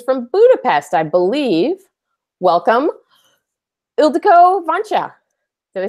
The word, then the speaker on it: Ildiko Vancsa: Welcome, Ildiko Vancha.